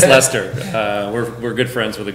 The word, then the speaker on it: Leicester: It's Leicester.